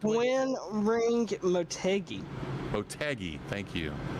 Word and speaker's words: Motegi: ready to go green here shortly uh at motiji twin ring twin wing how do you say it the correct win ring motegi motegi thank you it's a fascinating layout it